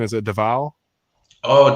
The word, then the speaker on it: Davao: Like, what is the correct pronunciation? Is it Davao? Oh, Davao.